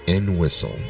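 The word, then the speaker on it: Entwistle: I would say him I think it's n whistle like you just like n and then whistle I think n whistle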